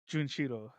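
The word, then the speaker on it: Jun'ichirō: Uh, Junshiro. Junchiro. Junchiro, Yeah.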